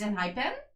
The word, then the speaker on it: Enhypen: Is it play on the English? Hype. Oh, it's like hype. Some people do pronounce it with a PH. Pun. NH. So it's Enhypen. Pen. It's Enhypen?